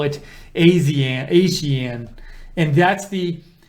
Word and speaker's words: ASEAN: Tudsbury says, I learned a new way to pronounce ASEAN, not Asian.